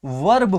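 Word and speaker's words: worm: पढ़ते हैं इसको वीआरबी इसको क्या पढ़ते हो वर्ग पड़ते हैं क्या बढ़ते इसको वर्ग पड़ते हैं लेकिन प्यारे बच्चों मैंने आपको बताया भी था कि इसमें जो आर सब लिखा है साइलेंट होता है अगर आर शब्द साइलेंट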